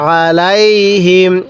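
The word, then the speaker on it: عليهم: আমার সাথে পড়ুন আর আলাইহিম হ্যাঁ আরেকবার পড়ুন আর আলাইহিম আইনটা গলার মধ্যে চাপ দিয়ে সহি উচ্চারণ করবেন আর আলাইহিমরান আবাবিল আরেকবার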